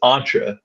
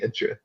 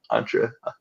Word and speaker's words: Entra: team so many times so it's entra I keep on saying intra all right entra I'll remember that well no I corrected